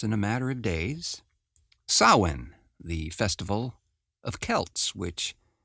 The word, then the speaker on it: Samhain: very soon just in a matter of days Sinn the Festival of Kelts which celebrates the beginning